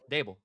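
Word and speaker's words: Daboll: Is it Dall or Dable? Dable.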